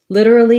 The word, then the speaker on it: literally: to see those links literally has a flap t so it sounds the same as if we have a d in the middle of the word so litter this letter i is an if sound this letter a is a schwa litter uh li so you